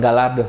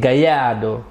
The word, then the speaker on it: Gallardo: penelitian yang gua lakukan bacanya bukan Gallardo tapi gaya do dan tapi kita baca